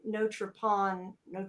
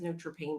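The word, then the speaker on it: Notre Pain: But yeah, they had some kind of group called Notre Pan. It says Notre Pane, but he pronounced Notre Pan. That's how you say it in French.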